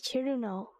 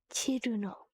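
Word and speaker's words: Cirno: That's so sorry, I don't mean to be so rude, but her name is Chiruno. Okay? Chiruno.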